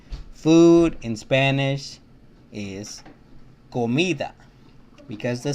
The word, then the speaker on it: comida: So all the A, O, and U letters, vowels, whenever the C is right next to these three vowels, it always sounds like a K. Canción. Comida.